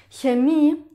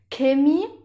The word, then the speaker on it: Chemie: Ahora, un dato interesante es también que cuando una palabra empieza con CH, En alemán, dependiente de la región de Alemania, las personas lo pronuncian de manera muy diferente.